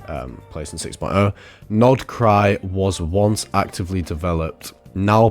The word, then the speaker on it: Krai: do know about No Cry currently um so no cry is an automous territory in the south of snis it is part of the cryo region spelled with a K but at the same